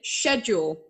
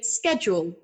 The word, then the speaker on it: schedule: a big one uh in american english we pronounce the ch in schedule as a k sound and in england they're